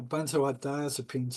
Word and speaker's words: benzodiazepine: Yeah, benzodiazepines.